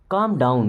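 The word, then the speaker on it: calm: गो क्या आप जाएंगे काम डाउन यहां पे एल साइलेंट काम डाउन का मतलब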